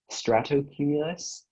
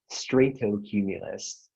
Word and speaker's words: stratocumulus: Yes, there are two. There is stratocumulus, stratocumulus, and stratocumulus. Can you please repeat the word one more time? All three pronunciations? Can you please repeat the word?